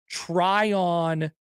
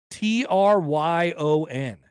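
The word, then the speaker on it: Tryon: met anybody from nor have I ever heard try on Nebraska how do you spell that t-r-y-o-n okay try on which is the home of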